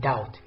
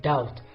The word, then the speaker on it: doubt: letter is silent in doubt is it B T or B plus T B T how do I say okay the correct pronunciation of this word is dolt so the silent letter is B now let's move to